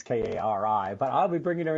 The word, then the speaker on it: Kari: I want to pronounce it Kari. I don't know why. It's Kari, but I'll be bringing her in just a moment.